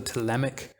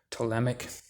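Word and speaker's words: Ptolemaic: look it up it's called the telemic theory of the solar system that's spelled with a p pt tolemic and take a look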